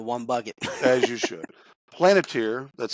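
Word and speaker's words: Palantir: Planeteer, that's spelled We P-A-L-A-N-T-I-R.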